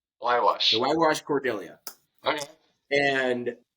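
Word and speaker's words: Huayhuash: And for anybody who looks it up, it is not like it sounds. It is HUAY, and that spells Wywash. Wywash.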